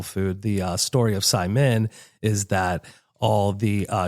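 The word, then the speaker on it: saimin: You know, I at the uh at the inception when we first bought the building, I intended on um maybe calling it Simon.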